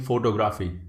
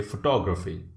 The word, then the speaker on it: photography: like this most of you might be saying photography it's incorrect you have to say photography right because to O is emphasized right recognize